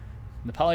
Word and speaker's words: Nepali: Nepali is how you say it in, well, Nepali for both language and nationality.